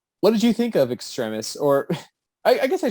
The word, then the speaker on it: Extremis: in this film that it's pronounced extremis because i'm pretty sure everyone assumed it was pronounced extremists but whatever that's again